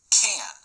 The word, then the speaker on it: can: do what I want the word can has a weak pronunciation and sounds like listen again I can do